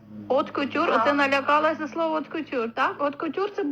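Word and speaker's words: haute couture: Але оце читається откутюр.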